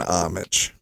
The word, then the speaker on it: homage: you call that brand I would call that one homage silent h even though you're changing